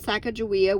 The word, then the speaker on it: Sacagawea: was published the publisher spelled sacagawea with a j instead of a g leading people to mispronounce her name and number eight shashani